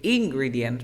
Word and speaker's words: ingredients: common mistakes in English we never say ingredients because in Spanish we say ingredients the stress is at the first at the first syllable but here we say